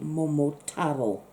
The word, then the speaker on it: Momotaro: you pronounce names so it looks Momotaro but you say more more tavill because some kind of emphasis on we are only all together so I'm nothing sort of